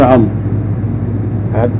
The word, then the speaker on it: عمرو: عن ابن عمرو. نعم، ابن عمرو عبد الله بن عمرو بن العاص. يفرقون بين عمر وعمر بالواو، وضعوا الواو، فصار الناس الان ينطقونها عمرو، وهذا خطا.